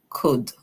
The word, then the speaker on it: could: But I could, the O makes a long O sound, the UL is silent, we hear the D says D. So we hear K O D, could.